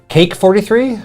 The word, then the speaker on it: Kake: That's pronunciation. Cake43?